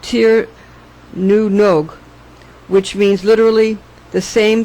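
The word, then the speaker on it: Tír na nÓg: In Ireland, instead of, quote, "to the land of youth," unquote, we say, quote, "to Tir na Nog," pronounced Tir nu Nog, which means literally the same thing, but has powerful legendary associations.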